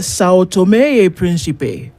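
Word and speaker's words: São Tomé e Príncipe: You pronounce Sao Tome Principe as it should be pronounced. So what he said, what the Portuguese would say is Sao Tome e Principe.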